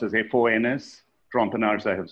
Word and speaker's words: Trompenaars: There's a very famous, and there's a YouTube video of von, it's pronounced as F-O-N-S, Trompenaars, I have spelled out here, T-R-O-M-P-E-N-A-A-R-S.